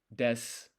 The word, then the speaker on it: desu: mas, like arimasu, or des, for example, is another one. When you write it, it's actually desu, arimasu, but the u is silent.